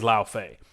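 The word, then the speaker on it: Lai: And I made sure to look up how they expect you to pronounce that ahead of this. And it is La Fay.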